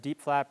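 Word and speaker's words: DIEP: Today we're talking about something called, and I hope I'm saying it right, DIAP flap. Is that right? Yes, deep flap or deep flap, there's a lot of ways to pronounce it.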